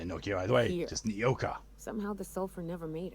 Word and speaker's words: Nyoka: Not because of Is the that name smell or pronounced the as Nokia? grittiness No, in it's your throat. Nyoka.